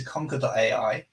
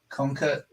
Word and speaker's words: Conker: Conker, spelled with a K, Conker.ai, and we have